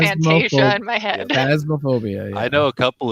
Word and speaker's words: Phasmophobia: So it's a horror game, Phasmophobia. Yep. I keep saying Fantasia in my head. Phasmophobia.